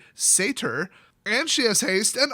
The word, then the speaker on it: satyr: Apparently you pronounce that satyr. I kept saying satyr, but she's a satyr, and she has haste,